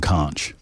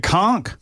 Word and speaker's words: conch: Uh, by the way, everybody's dinging me for mispronouncing conch. Oh, maybe I have a shot. Mine was so awful, but I have a I have a chance. It conchk.